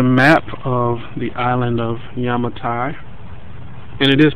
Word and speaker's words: Yamatai: is actually the map of the island of yamatai and it is pronounced yamatai for those who don't know um so very